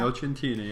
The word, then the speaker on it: Nocentini: And third on the podium was AG2R's Nocentini. Is that how you pronounce it? Mm-hmm. Yeah. Nocentini, yeah.